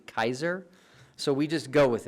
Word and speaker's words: Caesar: were pronounced for example we say Caesar today when it's actually Kaiser so we just go